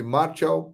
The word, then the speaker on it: Martial: Se escreve Martial, mas a pronúncia francesa é Martial.